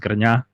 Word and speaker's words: Grnja: I'm of Distant, and my second name is pronounced Grnja. So like the J is actually silent, and you read the N like the N in piñata. So it's like Grnja.